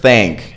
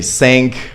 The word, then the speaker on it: thank: say them improperly so simple word thank as in thank you I'm pretty sure a lot of you guys say sink or even tank but that's another word right so other examples